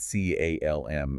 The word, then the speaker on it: CALM: And we pronounce that C A L M as the single word calm.